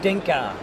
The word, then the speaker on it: Codinca: getting this wrong cinka cinka has an code secret code and Ina like the Incan tribe right it is me